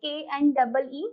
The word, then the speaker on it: knee: First one is K-N-E-E, knee.